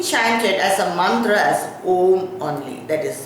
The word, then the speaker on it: Om: We should not split Om when we pronounce it or when we chant it as a mantra as A, O, M.